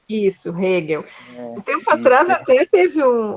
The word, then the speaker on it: Hegel: É assim que se pronuncia, Hegel. Isso, Hegel.